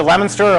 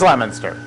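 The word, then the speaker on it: Leominster: is spelled lemonster Massachusetts is it lemonster or linster lemoner it is lemonster oh I always saw as linster all right it's a lemoner lemonster Massachusetts you can okay uh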